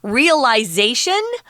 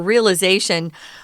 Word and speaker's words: realization: two different ways and there are two pronunciations realization which is more UK British pronunciation or realization which is what Americans say yeah and sadly he